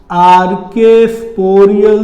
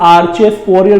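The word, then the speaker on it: archesporial: तो this is द 4th component, आर्केस्पोरियल cell. Okay, इसको बहुत से स्टूडेंट्स आर्चेस्पोरियल बोलते, प्रोनाउंसिएशन जैसा भी हो, वर्ड में आपको कंफ्यूजन नहीं होना चाहिए, टर्म में कंफ्यूजन नहीं होना चाहिए।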